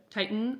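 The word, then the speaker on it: Tieton: Titan, I think is how you say it. T I E T O N Cider.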